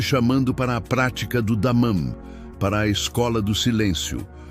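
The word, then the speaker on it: דמם: Se pronuncia damam.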